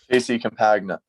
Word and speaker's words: JC Campagna: your everyone's last name on this uh podcast JY cagna that's the that's the easiest way Campagna cagna